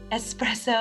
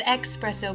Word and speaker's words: espresso: him coffee and espresso i nearly said expresso but we all know the correct way to say it is expresso exactly still wonder